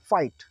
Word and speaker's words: fight: हाइट means ऊंचाई, इसमें भी GH देखे साइलेंट है। इधर है FIGHT फाइट।